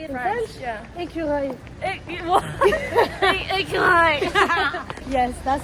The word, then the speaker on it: écureuil: I don't know how to pronounce this word. How can I say it in French? French? Yeah. Écureuil.